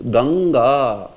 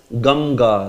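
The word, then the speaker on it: गङ्गा: It is Ganga. Ganga. And you are not pronouncing it as Gamga, right? It's not. So Ganga. Similarly, Kanka.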